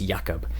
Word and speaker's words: Jacob: dinosaur's name was yakob spelled like Jacob but it's pronounced yakob so anyways that's that's